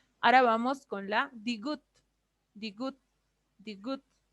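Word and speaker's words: 디귿: Ahora vamos con la digut. Digut, digut. Digut hace referencia a una D, pero tengan cuidado. Una D al principio, al medio una D, pero cuando está al final suena como una T.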